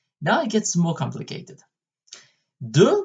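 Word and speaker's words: deux: it gets more complicated do which stands for - is spelled d e you ax so it's quite hard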